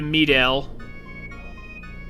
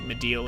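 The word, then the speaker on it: Mideel: We can go to the piano and grab the elemental materia before we head to Medel. Or Mediel, however you want to pronounce it. I think Mediel is correct.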